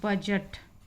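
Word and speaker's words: budget: ये है एज, ये है आपका ग्रज, और इसको हम पढ़ते हैं बजट। तो सभी जगह डी के बाद जी या GE आया हुआ है तो डी साइलेंट है।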